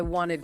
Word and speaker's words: wanted: Ah, want ends in T, so we need the id sound. I wanted coffee.